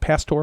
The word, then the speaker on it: pastor: Pastor, pasture. I have not been pasteurized, so pastor.